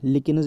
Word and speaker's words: lichens: लिकेन्स इसको आप प्रोनाउंस कर सकते हैं LICHENS।